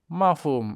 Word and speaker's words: mafhum: Kalau langsung mafhum itu tidak baku. M a f u m itu tidak baku. Harus ada h-nya.